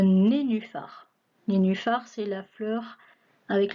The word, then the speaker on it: nénuphar: Un nez, nu, phare. Un nénuphar.